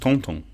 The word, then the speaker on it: Thornton: Leonie also had Monsieur Thornton. Was he related to Madame Bouchelet-Thornton? Pronounced Tonton.